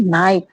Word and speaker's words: knife: Next है नाइफ, नाइफ की spelling क्या होती है, KNIFE, नाइफ मीन्स चाकू।